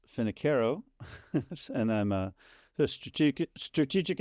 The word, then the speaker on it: Finocchiaro: Uh, my name is actually pronounced Finneo and I'm a strate strategic adviser and a fractional technology evangelist.